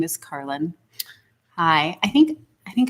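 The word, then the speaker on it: Karlyn: do do a lot and my name is carlin hi i think i think i see i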